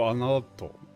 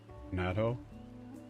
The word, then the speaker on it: natto: Oh, anato. Anato. Okay. Now I I am aware of what this is. Okay. How do you actually pronounce that? I don't know how you pronounce that. Natto.